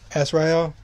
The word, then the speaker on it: Azrael: So it's not Bruce Wayne who's in the Batman suit, it's actually Azrael. That's how you say his name, I forgot.